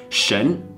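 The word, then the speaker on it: 神: I want you to get familiar with it's pronounced Shen and it means God in Chinese many NBA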